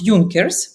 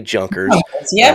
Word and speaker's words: Junkers: over here so uh a j sounds like a j to us so a lot of people say junkers I hear it junker you know yunkers junkers uh you know a